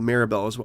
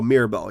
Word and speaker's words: Mirabelle: me away she played maribels oh Mirabelle yeah that's right what was I saying I'm saying Maribel Mirabelle correct that's the right that's how you say it that shot where they